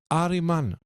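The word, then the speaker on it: Harriman: a lui Edward Henry hariman hariman dans la religion zoroastrienne c'est Satan c'est le nom de Satan c'est littéralement il s'appelle hariman ça s'écrit pas pareil mais ça se prononce pareil ok juste comme ça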